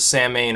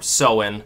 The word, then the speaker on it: Samhain: into the tradition of Samhain, or Samhain, as some pronounce it, and then further perpetuated into sort of the post-Christian Halloween that we know today.